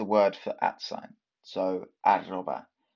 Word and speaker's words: arroba: First off, in Spanish, the at sign is translated as arroba. That's the word for at sign. So arroba. The double R here, tricky to pronounce, but just go for it.